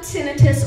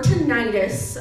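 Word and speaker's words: tinnitus: when we talk about tinius or tentis um they're both correct pronunciations either one's correct the theory behind the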